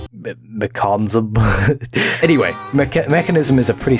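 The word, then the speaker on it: Mekansm: banging new grave talon why does it pronounce mechanism when there's no eye anyway shouldn't it be like mcconza anyway mechanism is a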